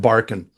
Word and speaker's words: Barkun: Barkun is spelled Barkun. Barkan, sorry, you pronounce it Barkan.